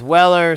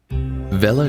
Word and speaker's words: Weller: might be familiar with Weller soldering eyes which are really popular they're great brand prepare to have your mind blown because we've been mispronouncing it this whole time Villa wxr3 rework station self-contained